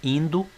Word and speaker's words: Indo: No Vale do Indo, ou Hindu, como queiram, mas a pronúncia em português é Indo, nas regiões onde hoje